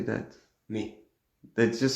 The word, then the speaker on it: Nice: They just say ni. Yeah. Ni. It's not niece. or nice me. I can remember when I was a child looking on the atlas and I saw, oh, there's a a city called nice. Yeah, must be nice. N so that's how you say n.